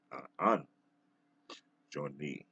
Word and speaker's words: An Jone: I like to pronounce it An Jone with Modern Time.